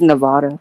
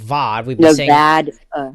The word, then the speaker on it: Nevada: think I think it's Nevada so apparently instead of VOD n it's Nevada Out of Towners we're out of Towners we say Vada but they the locals say Nevada let's do this one